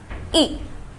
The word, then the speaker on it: y: So to indicate a place, we use the pronoun y. It's pronounced e.